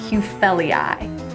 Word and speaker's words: Hufelii: Sempervivum Hufelii. If Hugh Grant took a stumble, we would say, Hugh fell, EI.